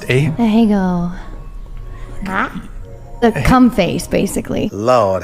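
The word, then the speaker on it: Ahegao: What is the, how's it pronounced? Ahego.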